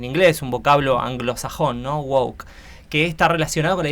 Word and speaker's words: woke: y empezó a aparecer una palabra que se pronuncia Wok se escribe w pensemos en el W de